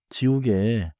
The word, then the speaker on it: 지우개: 지우개. It has 3 smooth syllables. 지, 우, 개.